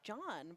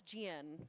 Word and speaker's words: Gian: I think I've been pronouncing it as John, but I uh just learned it's Gian.